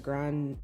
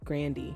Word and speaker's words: Grande: that she said tygan just like um it's ariana grande grandy not grande um but it was